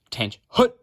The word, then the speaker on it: attention: you don't call the command fight attention it's pronounced tan hoot with you know snap and all that good